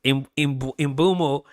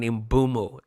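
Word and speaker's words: Mbeumo: But it imbumo has told us officially his name is pronounced Imbumo. Brian Imbumo.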